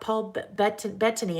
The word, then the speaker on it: Paul Bettany: Someone just said something about Paul Bettany.